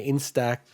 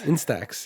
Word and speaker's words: Instax: themed version of their in-stack in i always like mispronounced this instead instax yeah mini link polaroid